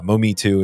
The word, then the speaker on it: Mometu: Yeah, a lot of different ways to say it, but yeah, Mumi too is how we pronounce it.